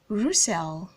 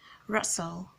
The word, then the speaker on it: Russell: lot of persons caught this name Roussel that is quite understandable looking at the spelling but that is all incorrect the right to call this name is Russell Russell the letter U in that name has the short op sound and the letter e doesn't make the S sound it makes the schwa sound that the sound so the name is Russell and not Roussel good this name as